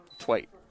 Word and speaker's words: Twite: Twite is the pronunciation Mr. Halpern has.